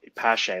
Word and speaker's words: Pache: I don't know how to say it, Pache. but Pache.